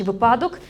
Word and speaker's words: випадок: скажемо випадок чи випадок поширена помилка в цьому слові єдиний наголос на першому складі випадок те що і як зазвичай кажуть випадок це є неправильно тому що на жаль